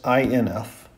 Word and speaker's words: inf: That's INF, pronounced inf.